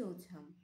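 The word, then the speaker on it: autumn: হচ্ছে হেমন্ত অর্থাৎ লেট ওঠাম এখানে এন এর উচ্চারণ একই ভাবে এন এর উচ্চারণ হবে না এখানেও হবে লেট ওঠাম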